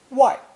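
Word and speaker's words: 外: in the early evening pronounce fourth tone why why in ancient times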